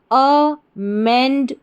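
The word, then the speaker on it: amendment: अमेंडमेंट तो पूरी spelling हमारी क्या बन गई?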